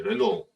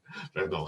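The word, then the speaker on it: Renault: 탄소 중립을 위해 이제 르노 이게 발음이 좀 어려운데 이 프랑스 자동차 회사입니다. 또 캐나다 분이셔서 제 발음을 더 이상한지 더 아시겠고요. 르노.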